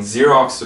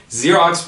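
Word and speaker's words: Xerox: the food 오케이 그다음에 Okay so zerx 발음은 그냥 zx 하면 돼요 zx 원래 복사기 만드는 회사인데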